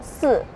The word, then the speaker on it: 四: Because pronunciation with 4, in Chinese we pronounce as 四. And then another word means dying, we pronounce as 死.